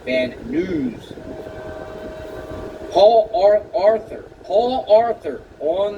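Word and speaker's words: Van Nuys: He pronounces it van news.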